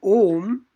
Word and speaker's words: Om: The anunasika nasal pronunciation of O is different from the sacred syllable Om. When reciting Om, when doing Onkar Dhyanam, M is pronounced as a distinct consonant separate from the vowel O.